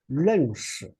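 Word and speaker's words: 认识: So it's a whole syllable, so we don't spell it. It's 是. So when we put together, we place it together, it's 认识, right?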